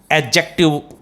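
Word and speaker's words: adjective: D silent होता है इसमें. एडजेक्टिव इसका प्रोनाउंसिएशन रहेगा.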